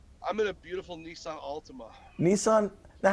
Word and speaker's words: Altima: are you in i'm in a beautiful nissan altima nissan now how do you say it ultima